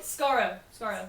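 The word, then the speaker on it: Skaro: So, hey, Scarro. Yes. That's correct pronunciation.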